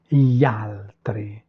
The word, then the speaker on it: gli altri: J'espère que vous sentez que je ne prononce pas le i. Je répète, gli altri.